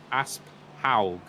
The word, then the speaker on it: Asphaug: quite a laugh at how we pronounce his name, and it's been many different ways over the season, but it's Asphaug, so we will get that right as we go through the season.